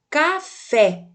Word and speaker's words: café: no cantinho do livro veja que a sílaba tônica da palavra és é café é fé devido ao assento presente é o acento agudo